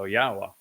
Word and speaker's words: Yahowah: Torah nobody disputes that the W in Torah is pronounced as an O and it even has the a at the end of it so yahwah is the obvious answer